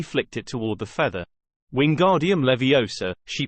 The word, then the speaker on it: Wingardium Leviosa: "Ron, you're saying it wrong," she snapped. "And you're going to put someone's eye out. Like mine. It's Wingardium Leviosa. You need to swish from your wrist, and make the gar nice and long while you're doing it."